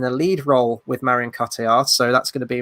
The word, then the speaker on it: Cotillard: So for Fabienne, I've cast Marion Cotillard. Cotillard, I think that's how you pronounce her surname.